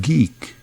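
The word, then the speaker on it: GEEC: so they founded geek G e e c but pronounced geek genealogists engineering and exploring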